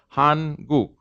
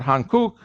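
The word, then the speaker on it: 한국: k k u k han guk right but the rule says that the second the interval kelly g following a nasal will be a g sound right so it's not han kuk it's han what kind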